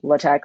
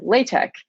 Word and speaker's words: LaTeX: am saying it, or LaTeX like other people say it. They're both right. It's just instead of pronouncing like latex, you're just adding a K at the end.